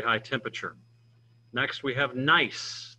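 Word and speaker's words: gneiss: temperature next we have nice the g is silent not good nice but nice it's a foliated metamorphic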